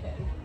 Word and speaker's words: Khair: You know, it's spelled Khair, but it's Khair in Arabic.